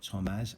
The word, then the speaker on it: Tomasz: October the 15th, 2005, Thomas Adamek wins over Tomaz. So let's just say it right, Tomaz Adamek wins over Thomas Ulrich from Germany in the 6th round by KO in Dusseldorf, Germany.